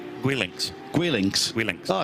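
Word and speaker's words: Guelinckx: How do we pronounce that? Gwillinx? Gwillinx.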